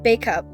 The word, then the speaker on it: Bacup: In 2007, she and her boyfriend, Rob, moved together in Bacup. That's how it's pronounced.